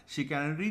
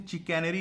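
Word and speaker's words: chicanery: शिकैनरी, चालबाजी से और अपने फॉल्स प्रोमिसेस से। कैसे याद रखोगे? अगर देखो शिकैनरी है ना, इसका प्रोनाउंसिएशन चिकैनरी नहीं होगा, शिकैनरी होगा।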